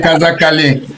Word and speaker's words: Kazakali: Elle est du clan Caré et originaire du village de Colna mais beaucoup plus et à Kassakali si je prononce bien. Oui. Kazakali. Kazakali. C'est ça.